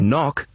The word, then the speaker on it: knock: Or in the word knock, you don't hear the K at the beginning.